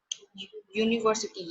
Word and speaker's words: university: आप यूनिफॉर्म, तो आपको अच्छे से क्लियर हो जाएगा कि यूनिफॉर्म, यूनिवर्सिटी प्रोनाउंस किससे हो रहा है, university year से.